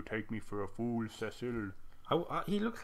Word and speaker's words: Cecil: One thing I will touch on is that in this game, even with the voice acting, he's called Cecil, not Cecil, as Americans would wrongly pronounce it.